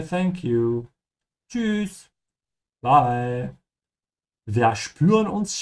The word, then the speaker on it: spüren: But we're going to use the short sentences to remind everyone that whenever you have S that comes before a P, it's pronounced like sh. So this is why we say spüren and später.